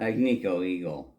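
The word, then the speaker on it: Agnico Eagle: So gold ano eagle. How do you say that? Agniko eagle.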